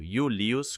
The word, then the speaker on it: Iulius: Isso era pronunciado Iulius com o I no início, desempenha um papel muito diferente daquele I do meio, como você pode ver aqui.